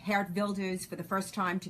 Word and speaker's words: Geert Wilders: I brought Geert Wilders, or Gert Wilders, as Americans say, Geert Wilders for the first time to the U.S., to CPAC.